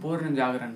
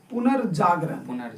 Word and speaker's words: पुनर्जागरण: पूर्ण जागरण काल से। पुनर्जागरण, उच्चारण भी सही होनी चाहिए, पुनर्जागरण।